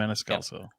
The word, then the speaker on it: Maniscalco: It was like, you saw Sebastian Maniscalco. Yes, yeah, okay. Something Did I say it right? that. Maniscalco.